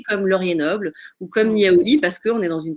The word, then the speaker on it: Niaouli: Niaouli, alors vraiment comme ça se prononce, c'est Niaouli, vraiment.